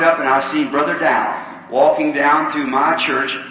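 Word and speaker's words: Daugh: I said, Brother Dow, can you hear me? He looked up at me. Not really in his name, he's a German, D-A-U-G-H, and I pronounce it Dow, I see.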